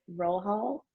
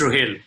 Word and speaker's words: Rahel: as well but um is it roll hall it's rohil okay sorry yeah no worries at all uh so so my name is rahel i am now